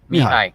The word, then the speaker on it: Mihai: It's Mihai. Mihai Loves APY. All right, I know a guy named Mihai, and it's spelled that way.